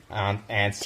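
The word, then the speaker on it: aunts: at Jordan's parents house because his two awesome ants ants ants you say ants like like little creature that's how I pronounce his awesome ants are in town visiting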